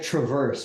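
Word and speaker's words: Traverse Legal: dis spell Travis legal for everybody please my pronunciation like it's like Traverse right t r a v r s e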